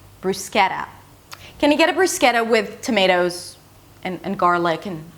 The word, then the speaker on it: bruschetta: But since the T is in between two vowels it's a flap T. 'bruws-keh-da', "bruws-keh-da". Can I get a bruschetta with tomatoes and garlic